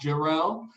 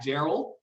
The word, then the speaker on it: Jerrell: name is jarrell i pronounced jarrell matt gerald and i have been